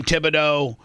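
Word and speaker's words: Thibodeau: How do you say his last name? Tom Tibido.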